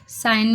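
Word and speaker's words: sign: तो वेडनेसडे में डी है, साइन में जी है, कॉम में बी है, नाइफ में के है, नाइफ पढ़ते हैं, वॉक में एल है, आवर में एच साइलेंट है।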